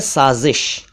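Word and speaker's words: साज़िश: एक शब्द है साजिश। साजिश को कई लोग साजिश या साजिश भी कहते हैं जो कि गलत है।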